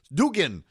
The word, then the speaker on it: Dugan: hope the Senate Majority Leader appreciates my proper pronunciation of his name Dugan and you know just to commend him again